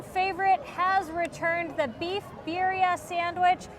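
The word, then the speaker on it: birria: has returned the beef bira sandwich I think it's pronounced biria uh but W that's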